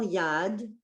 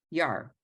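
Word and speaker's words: יד: Okay, Yamin, Usmol, Tif Rodzi, Vaet Adonai, Ta'aritzi, Al Yad, Yar. Yar? Yad. Yad, it is a Yad. Yad, okay, Yad. You know, like the pointer used for the Torah.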